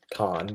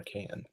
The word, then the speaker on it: Cannes: can almost pronounce that how do you actually say it I've heard people say it both ways is it Con or can um you can say it any way you'd like that's a good point